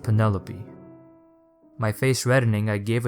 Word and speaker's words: Penelope: pronouncing her name right do you realize that you're saying pen like the pasta and lope like a dog running across a field pen lope he gave